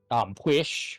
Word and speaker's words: Pwyll: There is Arawn, there is Pwish, which, looking at Pwish, you would not be able to pronounce it. Oh yeah, no. Because because it's PWYLL.